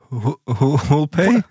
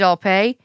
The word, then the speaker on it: Alpay: Who'll pay? David Alpay. Oh shit. No, I think it's pronounced David Alpay.